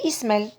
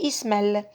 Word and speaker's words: Ismaël: on va dire ismail s'il n'y avait pas le trait moi je vais prononcer ismaël isma et pardon ismaël je vais prononcer ismaël où j'allais prononcé ismel donc le très mince